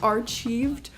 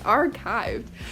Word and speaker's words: archived: i thought it was pronounced archieved i was pronouncing it are achieved for like a good two years until i